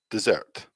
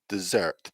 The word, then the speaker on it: dessert: oh i'm sorry that's the wrong one desert dessert desert dessert desert dessert okay so an interesting